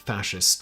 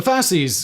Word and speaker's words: fasces: gain the same notoriety as the other prominent fascist symbol, the swastika? The Fasces, or more correctly pronounced fascis, means bundle in Latin and is